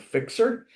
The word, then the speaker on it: Fyxer: And I didn't even see a pitch for this one, but it's called Fixer, and it's spelled Fyxer.